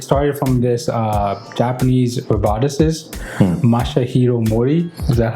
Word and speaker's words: Masahiro Mori: I'll be able to pronounce it properly Masahiro Mori. Okay. Okay. Well, so in Japan actually the last name comes first So it'd be Mori Masahiro Okay, Mori Masahiro.